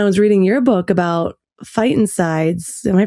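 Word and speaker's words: phytoncides: And so when I was reading your book about fightsides, am I pronouncing that right?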